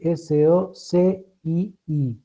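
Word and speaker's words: socii: Soci se escribe S-O-C-I-I, y latina, y se pronuncia soci, o aliados.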